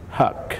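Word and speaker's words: Huq: Huck, spelled H-U-Q, but pronounced like H-U-C-K.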